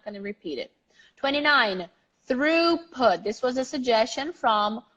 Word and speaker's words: throughput: okay yeah so the the toughest part is the r o u g age really tough here and also the stress that is at the beginning throughput throughput I'm gonna